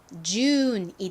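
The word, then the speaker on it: June: 볼게요 어떻게 읽으면 될까요 가장 앞에는 즈 소리가 나죠 유는 어 우유 소리 중에서 우 소리로 쓰였습니다 좀 길게 발음이납니다 자 그리고는 니은 소리가 나고이는 떨어지 소리가 나지 않아요 발음해 보면 준이 됩니다 발음 굉장히 간단하죠 따라해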